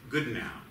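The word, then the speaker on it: Goodenough: Good now. Yes, it was. It was spelled good enough, but pronounced good now.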